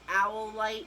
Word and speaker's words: Howlite: for all lights and it sounds like owl light but it's spelled with